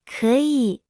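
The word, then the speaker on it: 可以: 可以可以可 Se pronuncia con el tercer tono.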